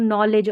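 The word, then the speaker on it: knowledge: देती है, KNOW, नॉलेज, LEDGE, लेज करके पढ़ेंगे, DGE है ना, इसको ज पढ़ा जा रहा है तो नॉलेज, और KN में K साइलेंट है, नॉलेज, नॉलेज यानी कि ज्ञान, जो कीमती ज्ञान है।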